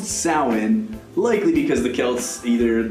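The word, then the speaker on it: Samhain: to the Celtic tradition of south which is pronounced salhan likely because the Celts either thought it best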